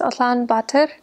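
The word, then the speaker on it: Улаанбаатар: in the capital city which is in Mongolian pronounced Alan B and uh I was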